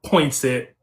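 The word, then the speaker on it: Poinsett: covers parts of um Craig Head, Mississippi, and Point Set County. Did I pronounce those names right? So it's changed. It's been kind of jerended. So it is uh Craig Head and um Point Set.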